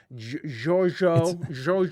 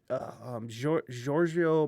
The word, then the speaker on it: Giorgio: It's Italian, and let me see. Giorgio, not Giorgio. Well, he went by Giorgio. Really? Like a super soft G?